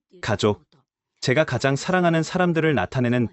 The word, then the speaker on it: 가족: 족이라고 읽어요. 족. 맞아요. 가족이에요. 가족.